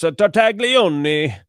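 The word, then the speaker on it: Tartaglione: Tartagleone, who at the time, I'm supposed to say it like this, Nicholas Tartagleion, who at that time was awaiting trial.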